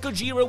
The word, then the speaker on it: Gojira: band two that it's the japanese pronunciation of the original 1954 godzilla movie and three that gojira was an absurdly overpowered